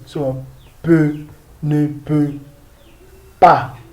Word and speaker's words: pas: So, peut, ne peut pas. We don't pronounce this S. Pas.